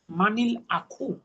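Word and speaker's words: مَنِ الْأَخُ: মানটাকে পড়তে হয় মানি, মানিল আখু।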